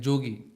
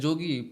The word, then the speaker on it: jogi: Yashoda told him like Jogi. Jogi means yogi. So in Vrindavan, in Bengali also, Brajvasa in Bengali, when we say Y, it is pronounced as J. So they say Jogi.